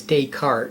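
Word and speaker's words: Descartes: said that um but the pronunciation is day cart dayart yeah that's what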